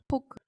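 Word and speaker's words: 포크: We call that fork as well. Just a little bit of differentiation in pronunciation. We call it poke.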